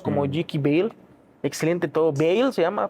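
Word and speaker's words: Beale: Bale se llama, pronuncia.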